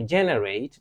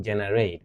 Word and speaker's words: generate: To induce is to cause, to trigger, to prompt, to bring about, to generate. Not generate, but generate with a stress on the first syllable.